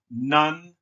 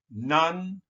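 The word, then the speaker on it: Nantegua: So that means, well, that's pronounced Nantigua. Nantigua.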